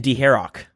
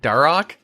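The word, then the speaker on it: Dharok: Oh, on a side note, could you guys please stop pronouncing the H in Deharok? A piece of me dies every time. Herok like that. Darok.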